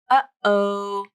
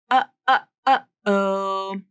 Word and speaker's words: uh-oh: That gap between those 2 words. Uh-oh. That's the stop T, the glottal stop T. The vocal cords actually come together and